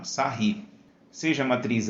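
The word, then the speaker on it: Sarrus: Se pronuncia assim, tá? Sarry.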